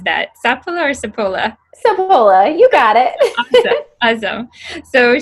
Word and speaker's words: Sapola: I should have asked you, how do you pronounce that? Sapola or Sapola? Sapola, you got it.